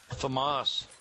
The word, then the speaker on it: FAMAS: I did like that Famous though, I was surprised. That's a GP gun. The what? The Famous, I had one of those yesterday messing with it. GP gun. Famas.